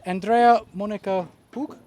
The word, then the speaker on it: Andrea Monika Hug: So I'd like to introduce Andrea Monica Hug. Yeah.